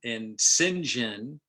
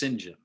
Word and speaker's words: St. John: John Smith, and Sinjin is the Old English pronunciation of St. John.